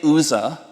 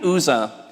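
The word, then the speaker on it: Uzzah: many Hebrew Bible scholars asking how you pronounce his name there is no consensus we're gonna say uza and if you know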